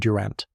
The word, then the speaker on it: Durant: Malone ren pronunciation ren like pen and durant pronunciation durant like ant with emphasis were locked up their